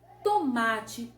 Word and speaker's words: tomate: Perceba que o má parece que está mais intenso, parece que ele pesou um pouco mais e demorou mais na nossa pronúncia. Então eu percebo que a sílaba mais forte aí é o má, ou seja, é a penúltima sílaba da palavra.